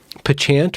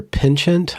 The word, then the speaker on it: penchant: very quickly saw your penchant or penchant. I always pronounce it wrong, and then I get 100 comments telling me that I'm pronouncing it wrong. Definitely penchant. Penchant. No question about that.